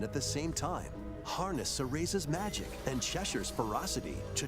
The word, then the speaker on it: Cereza: Cereza, that's how you pronounce it.